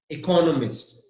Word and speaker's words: economist: Economist, exactly.